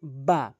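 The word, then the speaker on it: ب: এরপরে আসুন বা বা হরফটি দুই ঠোটের দুই ঠোটের ভেজা অংশ মিলিত করে। দুই ঠোটের ভেজা অংশ মিলিত করে এভাবে উচ্চারণ করবেন।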